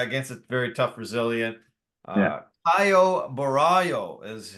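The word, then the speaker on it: Caio Borralho: and uh yeah against a very tough Brazilian Kyo Baro is how you say his name yeah okay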